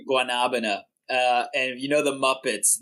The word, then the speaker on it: guanabana: I'll say it's guanabana. Guanabana. So they say guanabana.